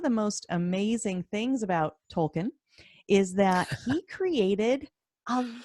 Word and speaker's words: Tolkien: always pretty yet yeah you just say it quick it's Tolkien Tolkien there's a small subtle pronunciation in there I'm sure because he was born in South Africa but if you're an American we just say Tolkien Tolkien all right make it